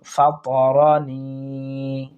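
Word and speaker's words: فَطَرَنِي: লা আ'বুদুল্লাযী, দেখুন ফাতারানি, ফাতারানি, এই ফাতারা আমরা দ্রুত উচ্চারণ করার চেষ্টা করব। আবার নি, জেরের বাম পাশে যজমালা ইয়া টানবো আমরা এক আলিফ।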